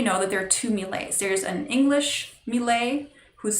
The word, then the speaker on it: Millet: end this one is the french melee who's spelled like millet m-i-l-l-e-t so the reason